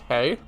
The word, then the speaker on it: HE: of our toughest abnormalities she is the third rank which is pronounced hey not he um manager manager manager